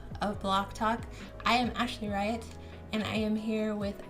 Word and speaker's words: AaltopahWiFi: AaltopahWiFi. No, How do you say it's it? AaltopahWi. AaltopahWi. Like you that? You don't say the phi in the end. It's AaltopahWi.